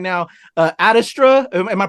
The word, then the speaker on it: Ad Astra: Adastra, am I pronouncing right? Adastra? Yeah, Ad Astra, it's from the Latin phrase to the stars through perseverance.